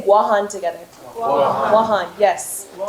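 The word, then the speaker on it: Guåhan: Born in Mongmontotomaite on Guahan, and is... Guam? Yes, it's actually Guam is a mispronunciation of the indigenous name of those islands, which is Guahan. Can everybody say Guahan together?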